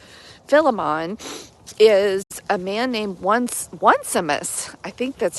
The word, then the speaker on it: Onesimus: And so the subject of conversation between Paul and Philemon is a man named Onesimus. I think that's how you pronounce it. It's like how it's spelled. The like one O-N-E Simus.